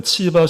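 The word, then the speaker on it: צִיבָא: 예 솔로몬 시대는 시바의 영원 시바 그대로 맞고요.이 본문의 시바는 히브리어 발음을 보면은 치바 정도로 발음하는 것이 맞다라고 합니다.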